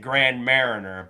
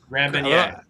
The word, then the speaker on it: Grand Marnier: My parting drink is a is a For those that aren't smart, they'll pronounce it Grand Mariner, but those are the Fiji. Grand Marnier.